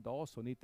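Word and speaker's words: Dawsonit: das ist ein daonit darf sonit geschrieben da sonit ausgesprochen daen war übrigens ein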